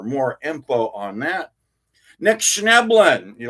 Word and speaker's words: Schnebelen: Nick Schneblin. You like how I say that? I actually know how to say his name and smell it, and spell it. It's Nick Schneblin, Schnebelen, and he's got a